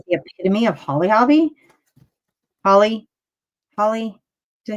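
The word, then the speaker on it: Holly Hobbie: I mean, and isn't ruffled lace like the epitome of Holly Hobby?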